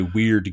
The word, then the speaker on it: Wyrd: which is made by Weird Games, which is spelled WYRD as opposed to like the normal way that Weird is spelled.